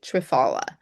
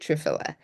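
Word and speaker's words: triphala: Now some people pronounce it trfala um but I pronounce it trfila and I put this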